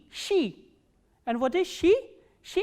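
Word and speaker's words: щи: The words that we are going to learn from this letter is she, sh and e, she.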